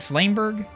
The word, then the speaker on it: Flamberg: a z and a flamberg is that how you say it flameberg it's pretty close I'm calling this Wii